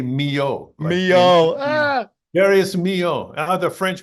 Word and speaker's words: Milhaud: Darius is born, named after Darius Milhaud. Yeah, Darius, and it's very funny. It's spelled Milhaud, but you say Mio.